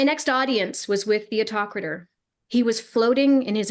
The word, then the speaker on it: Autokrator: Oh my God, I can't remember how to pronounce it now. Autokrator. Autokrator.